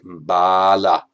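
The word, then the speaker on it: bāla: Well, bala with a short a is strength, and bala, a different sound, a different meaning, that means fool.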